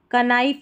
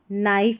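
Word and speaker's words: knife: जैसे इसको कनाइट नहीं नाइट पढ़ते हैं, कनाइफ नहीं नाइफ पढ़ेंगे, क नैपसैक नहीं नैपसैक पढ़ेंगे, ठीक है.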